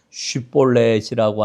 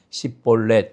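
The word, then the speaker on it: 쉽볼렛: 어, 요단강 나루터에서 어, 이제이 에브라임 지파 사람들을 정리를 하게 되는데 슈볼렛이라고 하는 발음을 하지 못하는 사람들 이럴 테면 시볼렛 이렇게 발음하는 이와 같은 사람들을 42,명이 에브라임 지파들이에요.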